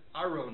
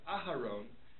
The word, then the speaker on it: Aharon: So the example that's brought down in the Mishabur and other poskim is if he says Aaron instead of Aharon, and textually you know